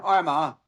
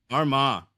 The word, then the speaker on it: Armagh: I struggle with saying Arma. So, how do I say how do you say it? We're good. Arma. Arma.